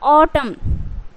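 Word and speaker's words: autumn: है उसमें a letter जो है वो उसे साइलेंट करना है तो क्या हो जाएगा ऑटम उसी तरीके से कॉलम क्या इसको को क्या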